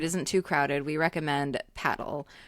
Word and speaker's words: padel: too crowded, we recommend paddle. We're not pronouncing it padel, but that's that's how you say it in Spanish.